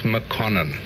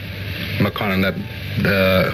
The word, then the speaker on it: Mokonene: We pronounce Mokonene. Mokonene.